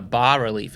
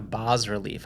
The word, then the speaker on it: bas-relief: So well, I was this days old when I realized it was called a bas-relief and not a bas-relief. I didn't know the S was silent.